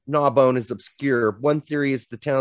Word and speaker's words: Narbonne: Narbonne.